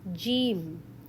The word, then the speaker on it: Jeem: Next letter is Jeem. How to read it? Jeem. It sounds like J in English.